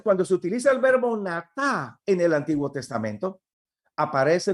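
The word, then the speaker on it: נטע: Y la palabra hebrea que se traduce por plantar es natá, así como usted lo escucha pronunciar, N-A-T-A, natá es la palabra.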